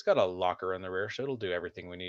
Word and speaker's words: loch: called grand tour lockdown spelled with uh loch lock yeah i like it